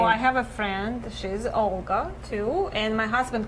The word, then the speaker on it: Olga: How do you pronounce Olga? Olga.